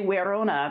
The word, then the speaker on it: Verona: would be pronounced tarsatica just say verona and you could say werona because these are pronounced like w in latin but why just say